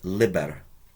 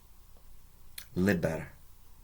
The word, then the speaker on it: liber: for well can you work it out it's pronounced Liber Liber I think Library it's a book and it's